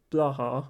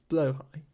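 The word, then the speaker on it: Blåhaj: It's not blaha or blahaj. It's blowhigh.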